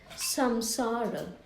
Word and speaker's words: samsara: I will show you how this samsara, or sam, actually it's, even though it's written as sam, it's pronounced as san, samsara, sansaric accidents.